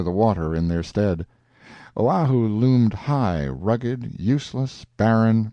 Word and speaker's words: Oahu: of this group of islands Oahu and molai pronounced Oahu and molai on the morning of the 18th